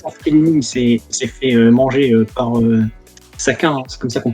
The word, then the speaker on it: Saka: Bon, après, il s'est fait manger par Saka, hein, c'est comme ça qu'on prononce.